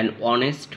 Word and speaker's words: honest: An honest man doesn't take bribe or gift for work. এখানে an এর পরে honest এসেছে, সো এইচ এর উচ্চারণটা হয়েছে ও এর মতো অ।